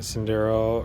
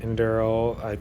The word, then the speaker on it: Enduro: So this, as you all know, is my Element Enduro or Element Enduro. It's pronounced both ways, but my Element Enduro 24, completely stock.